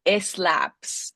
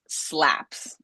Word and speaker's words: slaps: So, la fantasma this happens to us a lot where we say eslapse estar estop right. No eslaps slaps. Ooh, that's slaps or sleigh, right?